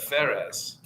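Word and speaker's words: Φαρές: ancestor for Jesus, and that's with a phi there. So that was actually the Greeks would pronounce that Phares.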